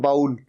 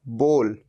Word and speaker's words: bowl: भी प्रोनाउंस करते हैं, कहते हैं बाउल। बाउल नहीं, सही प्रोनाउंसिएशन है बोल। जैसे हम किसी को कहो बोल, क्या बोलता है बोल, तो ये बोल, ये है इसकी सही प्रोनाउंसिएशन।